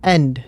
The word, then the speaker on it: he: And that H comes from haber. That silent H that you have there.